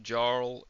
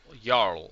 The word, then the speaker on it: Jarl: Uh, you can recreate the castle from the first Jarl in you encounter in Skyrim. I don't know the name. That's pronounced Y. Jarl. Yarl. Yes, Yl indeed.